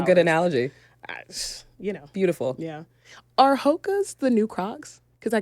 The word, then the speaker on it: Hoka: Are Hokas the new Crocs?